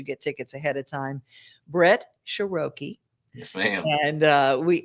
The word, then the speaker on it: Sheroky: right it's you know it's like vowel consonant vowel is always an uh long sound so you go shiroki that's how you say